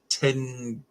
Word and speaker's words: Tintagel: We've got the castle that's said to be King Arthur's, Tintagel, I believe it's pronounced.